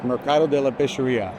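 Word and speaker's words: Mercato della Pescheria: Venetian the Marcato de laes how do you pronounce it it's Marcato de la pesia it's basically de la pesia it's a fish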